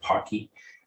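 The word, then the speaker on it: Poky: It's pronounced the same as a particular candy that comes from Asia.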